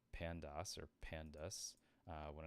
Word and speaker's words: pandas: Every time I see pandas, I pronounce it as like pandas or pandas. When it's like, why don't you just say pandas? Like the bear.